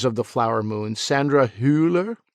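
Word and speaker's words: Hüller: the flower Moon Sandra huler that might be how that umot is pronounced Sandra hooler in anatomy of a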